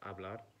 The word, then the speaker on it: hablar: We have the verb hablar, the H is silent, so hablar, which means to speak, or matar, which means to kill, matar.